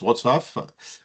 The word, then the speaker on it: Wrocław: Je crois que ça on prononce comme ça, Wrocław en français, enfin Ça s'écrit avec un L lavé, donc on prononce Wrocław.